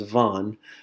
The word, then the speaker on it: van: word va in which in Spanish is pronounced as Vaughn but in English it sure looks a whole lot like van and you may remember